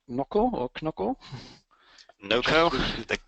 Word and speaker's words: Knoco: called knco or KOCO NOCO the K is silent as as in knowledge okay and is it where where does the name come from it's no NOCO knowledge company uh it's